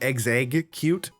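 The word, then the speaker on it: Exeggcute: The I've always thought it it's it's strange to pronounce execute cuz it's supposed to be ex egg cute, but that's not something you can say really easily.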